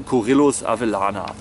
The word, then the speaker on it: Corylus avellana: Hasel Corillus Avellana. So spricht man das übrigens auch aus.